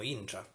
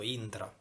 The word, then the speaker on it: intra: di vista, anche se quasi tutta la Sicilia lo pronuncia un po' all'inglese, train, quindi intra.